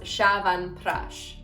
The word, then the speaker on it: Chyawanprash: across like through thousands and thousands of years shyavan prash as i have learned it is spelled this way pronounced shavan prash again there are other variations this is how